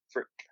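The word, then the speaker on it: Frik: Frick. Like frack, but frick.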